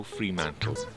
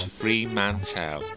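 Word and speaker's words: Fremantle: 25,000 the city is named after Charles how freemantle and the name is universally pronounced as free mantle not free Manel as one might presume Sir Charles hoe who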